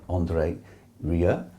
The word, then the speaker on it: André Rieu: classical music world and his name is Andre Ria and he is with me now very good nick I got the right pronunciation thank you and looking